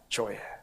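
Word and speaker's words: ζωή: 헬라어 생명의 발음이 어떻게 되느냐? 조에.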